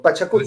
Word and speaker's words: Pachacútec: Pero es fácil, porque en quechua no existen palabras que tengan el acento en la última sílaba.